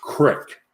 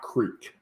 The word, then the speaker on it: creek: But then it's pronounced crick, not creek.